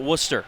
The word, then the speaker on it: Worcester: here in worcester massachusetts it's spelled like warchester but you got to call it worcester otherwise the locals will